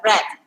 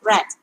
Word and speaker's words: read: read r e a d same spelling but pronunciation is uh red okay because this is past participle i have red okay so the time is not given here